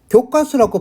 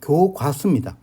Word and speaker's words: 교과서: 합니다 간단이라고 안하네요 간단입니다 그리고 교과서라고 발음하는 경우도 있는데 표준 발음은 교과서가 아니라 교과서입니다 그래서이 중에 우리는 일부분에서